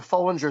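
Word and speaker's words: Foellinger: Charles Illinois to the Arcada theater and then I think it's pronounced a faux injure theater in Fort Wayne well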